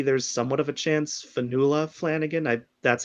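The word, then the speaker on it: Fionnula: I originally thought it was Fianula before I heard her say it, but she's Irish, so that's why it's spelled and pronounced like that.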